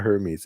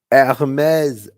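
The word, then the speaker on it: Hermès: I finally get to say, and what about Hermes? Hermes? No, it's not Hermes. It's Hermes. Hermes. Not even close, you know.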